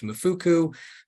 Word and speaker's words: MFCU: The Medicaid Fraud Control Unit, you'll see us sometimes abbreviated to the acronym MFCU or pronounced MFUCU, but we are the state's criminal oversight entity.